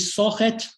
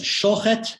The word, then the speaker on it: Shochet: Here you see a Jew from the Russian Pale settlement, Yudol Itzkevich Sochet, that is Shochet in the Lithuanian pronunciation, where sus and shuz are not clearly distinguished, becomes Yudol Shochet later in life.